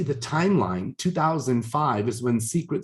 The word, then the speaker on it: Seacret: And as you see the timeline, 2005 is when Seacret Spa was started, and it's spelled SEA because they believe it's the best kept secret.